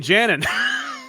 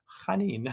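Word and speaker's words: Janín: It is how you pronounce it. It is. I've been saying Janin.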